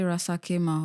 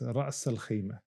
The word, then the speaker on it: Ras Al Khaimah: I say Rasakema or Rakasema. No, yeah, it's Ras Al Khaimah.